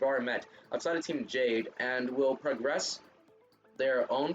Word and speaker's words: JPDE: Route events, these are tied to characters you've already met outside of Team Jade and will progress their own personal route.